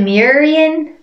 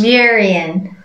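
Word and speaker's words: Muireann: irish girls is it murian close miriam don't say that no there's more of a w in there after the m so it's we're in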